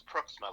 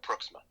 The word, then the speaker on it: Pruiksma: It's Pruiksma, like Brook, but with a P and an SMA at the end. So Pruiksma.